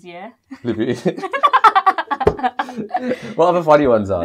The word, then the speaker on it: Louboutin: Which is, look at my Louboutins, yeah? Louboutins. What other funny ones are there? I'm just trying to think. There's like, Louboutin.